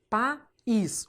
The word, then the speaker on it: País: Regra do hiato. País.